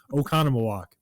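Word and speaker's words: Oconomowoc: So, if if you saw it spelled, you probably would have no idea how to pronounce it, but now you do because you're listening to me telling you how to say it. And it is Okconam walk.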